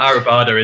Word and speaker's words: Arribada: You get Arribada, Arribada. But Arribada is the right way of saying it.